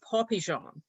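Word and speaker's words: pois pigeon: to be from um french word for dried peas which is pronounced poppy jean which to some might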